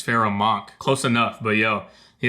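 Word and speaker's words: Pharoahe Monch: talking about what's it how do you say a feral monarch i think that's how it's pronounced hold up pharaoh monarch i don't know why i said pharaoh monarch it's pharaoh monk close enough but yo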